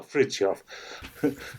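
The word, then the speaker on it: Frithjof: name is difficult uh so why don't you pronounce sha properly you've got it right what about the first name though ah frof so frof Shan yeah I mean he's he's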